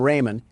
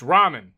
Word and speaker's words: ramen: Door Dash is on its way to deliver some Raymen, and I don't want to spill any around the pyramid floors. Uh, it it's pronounced ramen.